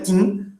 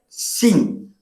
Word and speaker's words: Qin: Embora a gente veja aqui no português, se fôssemos falar, seria Qin, só que em chinês se pronuncia Xin, certo?